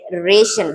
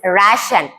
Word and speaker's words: ration: That should not be pronounced like ration. That is ration.